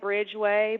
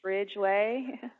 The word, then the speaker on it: Ridgeway: not my fault and it'll look like Bridgeway but it's Ridgeway what happens when you